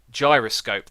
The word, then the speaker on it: gyroscope: me say it correctly, I've got to say it like Jam Jar, Gyroscope. There we go. Normally I say gyroscope, and a load of people have corrected me and said, nope, you're saying it wrong, it is gyroscope. And there we go. Hopefully that is an okay pronunciation of the word.